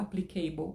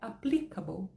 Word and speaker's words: applicable: a ele é a você não pode falar applicable é totalmente errado a pronúncia é applicable então até o a entonação tá no pli apli e depois cabou e